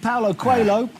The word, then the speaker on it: Paulo Coelho: We're not sure about the pronunciation. I'm going to have to give you that. Is indeed Paulo Coelho.